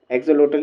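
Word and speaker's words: axolotl: mascot एक animal है exhaust लोटल एग्जोलोटल एग्जोलोटल ही इसको प्रोनाउंस करेंगे ठीक है यह जो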